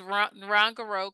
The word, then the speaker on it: Ngorongoro: I think it's Ngorongoro Crater.